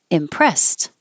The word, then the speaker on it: impressed: Impressed. Oh, this was supposed to be ED, past tense. So the ED sounds like a T.